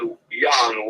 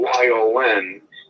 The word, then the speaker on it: Yon: Yeah, I pronounce it Yon, Y-O-N, but it's legally spelled. Okay. Because I'm Czech. I was born in the city of Prague. Okay. So my name is Yon. It's a Czech name. But in America, when people asked me my name, I kept saying Yon and spelled it. They were totally confused. Right. So I started to spell it Y-O-N like it's pronounced, and then nobody had a problem anymore.